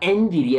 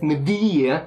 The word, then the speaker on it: NVIDIA: And it's got a bunch of other features in it, like NVIDIA Ansel, NVIDIA, I think I always say it wrong. It's not NVIDIA, it's NVIDIA.